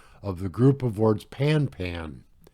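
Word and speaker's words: pan-pan: the group of words pan pan each word of the group pronounced as the French word Panet and sent before the call I think if you're saying pan ban that's good enough all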